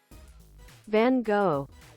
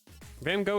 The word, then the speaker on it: Van Gogh: Marge has a frog in her throat yes Van Gogh that's the English translation by the way it's